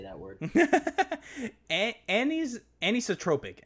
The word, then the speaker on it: anisotropic: up how to say that word a annie's anisotropic anisotropic i think it's how you're supposed to say anisotropic comment tweet at me phonetically spell it out say how say how